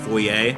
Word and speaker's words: foyer: main foyer oh yeah and it's foyer by the way there's no e about it that's straight up how it's pronounced then again then again